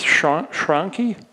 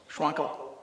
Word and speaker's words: Schwankel: And we have a public hearing to consider a variance application from Marcy Weaver and Keith Schwanke. Did I pronounce that correctly? Close. Schwankel. Schwankel.